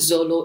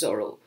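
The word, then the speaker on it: Zoro: pointed out uh that it's not zollo it is zorro but i'm not mispronouncing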